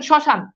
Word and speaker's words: শ্মশান: তেমনি ভাবে দেখেন শ্মশান, এই যে দেখেন প্রথম মফালা আছে কিন্তু শ্মশানে দেখেন মফালার উচ্চারণ নাই, অর্থাৎ যেখানে ম থাকবে সেখানে শুরুতে ম থাকলে এটার উচ্চারণ হয় না।